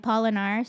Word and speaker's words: Polinar: And Polinar sounds like I'm pollinating the world.